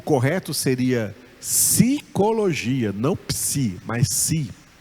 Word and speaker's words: psi: E os gregos não pronunciam esse P. Não pronunciam esse P. Então, para os gregos, essa letra é a letra Si.